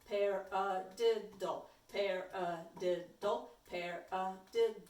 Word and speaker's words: paradiddle: before we do this a paradiddle sounds like the word okay so you can say pair dull pair did dull pair the dull pair